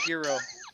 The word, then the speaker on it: gyro: Gyro. Yeah, gyro. Yes, I was trying to do that earlier, and my wife went, "Huh? What? It's gyro. What's that?" And I was the G is silent. Gyro.